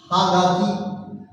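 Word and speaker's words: はがき: खाक की खांजी है हागाकी हा और खाकी जब मिलता है तो ये गाकी हो जाता है हागाकी हगा की मतलब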